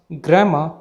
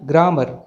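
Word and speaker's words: grammar: sound नहीं आती है तो इसे हम grahma बोलेंगे ना की ग्रामर दूसरे वर्ल्ड में आर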